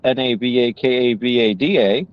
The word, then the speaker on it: Navakavada: That's NAVAKAVADA. It's spelled just like it sounds.